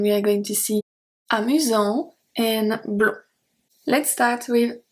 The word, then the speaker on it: amusant: Then we have amusant. Amusant, S has no power, we don't pronounce the T. Then amusante, because we have the E, we are pronouncing the T.